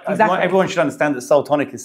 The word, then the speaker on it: Seoul Tonic: with that name like everyone should understand that Soul tonic is spelled like Soul as in not as in